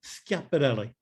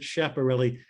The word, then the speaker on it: Schiaparelli: One of my great heroes of astronomy is Giovanni Scaparelli. Schiaparelli, and some people want to mispronounce it Schiaparelli. His name is Italian, so the SCH is a hard ska.